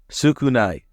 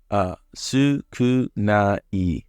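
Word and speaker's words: 少ない: Sukunai. Sukunai. I think of Sukuna from Jujutsu Kaisen.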